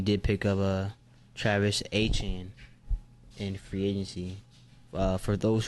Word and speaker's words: Etienne: So the correct pronunciation is Etienne, not Etienne.